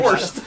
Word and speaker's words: Horst: All the way from Los Angeles, California, spelled like you spell it, horse and add a T. Horst.